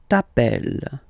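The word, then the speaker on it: t'appelles: Remember final s not pronounced tapel.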